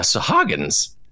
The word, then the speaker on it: Sahuagin: Now, at this time, there were some Sahuagins.